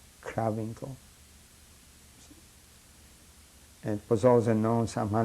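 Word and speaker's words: Krawinkel: satellite outside buchenwald and that place was called kravinko how do you spell that k r a w i n k e l kravenko it was also known somehow like that settled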